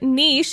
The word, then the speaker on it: niche: is typically pronounced niche in the U.S. The word niche is more likely to be pronounced niche in UK. Yeah. Yeah. It's only the southern U.S. is saying niche. Yeah. No, niche is the right way.